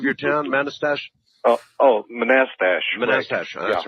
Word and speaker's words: Manastash: that I guess all right how do you pronounce the name of your town manastash oh oh manastash manastash that's right thank you uh and uh